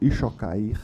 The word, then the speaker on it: Chucair: acrescenta que o mesmo relator, eminente conselheiro João Paulo Ixocair, é assim que se pronuncia, ouquer nos autos do